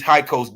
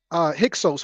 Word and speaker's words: Hyksos: These high coast niggas ain't playing. Okay. Now, you heard the high coast, right? Yeah, I've heard it pronounced Hyksos, but yeah, absolutely.